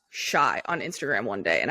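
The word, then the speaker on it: Shai: Second, I have Dame and Shea.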